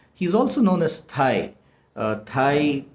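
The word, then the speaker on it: Thầy: is also known as thai pronounced as in thailand thai that's the short form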